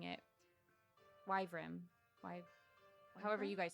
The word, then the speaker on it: wyvern: How do you guys pronounce Wyvern? that? Wyvern. Wyvern.